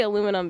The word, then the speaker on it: aluminum: We say aluminum because that's what the guy who discovered it wanted it to be called, but the science community wanted it to sound like other elements of the time.